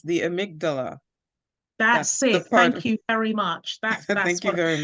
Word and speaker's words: amygdala: And thank you to the person who says it's the amygdala.